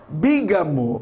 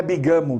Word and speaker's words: bígamo: Bígamo não é bigamo.